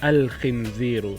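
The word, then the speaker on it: الخنزير: Kha is also a moon letter. Example of a word that start with kha is khinzir. What does that mean? Khinzir means pig. You see in a farm in country town in Australia. Khinzirun, pig. And introduce a definite article is al-khinziru, means the pig. Al-khinziru.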